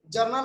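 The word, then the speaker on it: journal: जर्नल का मतलब होता है रोजनामचा। यहाँ जनरल और जर्नल में अंतर समझिएगा, ये जे से उच्चारण हो रही है और जनरल वाला जी से उच्चारण होता है।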